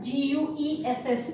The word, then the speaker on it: guess: फिर है word G-U-E-S-S. Guess. Guess means तुक्का लगाना, तुक्का। G-U-I-T-E-R, यू साइलेंट है ना इनमें, यू यहाँ साइलेंट, यू यहाँ साइलेंट, यू यहाँ साइलेंट।